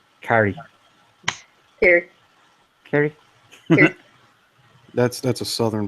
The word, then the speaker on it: Kerry: Like, because I guess I chop it because it's two syllables when he says it, and it's one when I say it. Carrie.